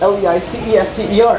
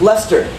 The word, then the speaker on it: Leicester: And just like that, this is actually spelled L-E-I-C-E-S-T-E-R, and it's pronounced Lester, like Lester Holt, but it's not spelled like Lester Holt.